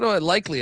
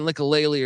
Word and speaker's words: Isaac Likely: Isaac Likely, I think it is, likely, right? I always fucking pronounce. I always for like a whole year I was saying Likalele or some shit like that, and then I realized that it was Likely from Oklahoma State.